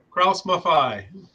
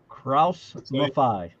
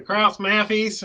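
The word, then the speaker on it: Krauss-Maffei: It's pronounced Kraus Maffei. Yep. Kraus Maffei. Yes. And I've heard the Kraus Maffies and all kinds of things like that, but Kraus Maffei.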